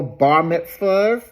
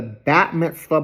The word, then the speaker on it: Bat Mitzvah: thought they were all bar mitas but I I I learned that the female version of it is the actual called the Bat Mitzvah but it's it's spelled b a so I never knew